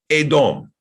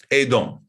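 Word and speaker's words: אֱדוֹם: But in all three cases, it's pronounced Edom. Edom.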